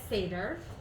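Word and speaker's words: Seiðr: I'm going to go ahead and just pronounce it our Americanized way, just to save confusion, so I'm going to refer to it as Seiđr.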